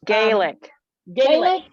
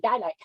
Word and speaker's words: Gaelic: english but guyalek baelik how do you say that i like garlic and gaelic my granddaddy always called it guy like okay gaelic and um and then